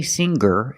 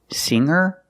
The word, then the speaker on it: singer: In both of these words, the G is not pronounced with a hard G sound. We don't say singer and we don't say hanger. We say singer and hanger.